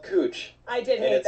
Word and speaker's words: Couch: It's Cooch, but it's spelled Couch.